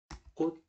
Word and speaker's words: 꽃잎: 그런데 꽃잎 같은 경우에는 꽃잎 하고서 이거는 어떻게 되는 거냐면 일단 꽃하고서 뭘로 발음된다? 치읓은 뭘로 발음? 디귿으로 발음. 오케이. 그래서 꽃잎, 피읍은 끝소리 뭘로 발음? 비읍으로 발음. 일단 이렇게 됩니다. 그럼 여기까지는 끝소리. 이해됐죠? 그 다음 앞말이 자음으로 끝나고 뒷말이 이야, 여, 요 중에서 이로 왔잖아요. 그럼 뭐가 첨가된다? 니은. 그래서 꽃잎 이렇게 되죠?